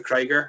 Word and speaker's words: Krieger: called Eye of the Krieger, and that's how I remember it. Because it was like Eye of the Tiger, Eye of the Krieger.